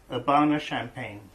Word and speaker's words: Urbana-Champaign: Urbana-Champaign.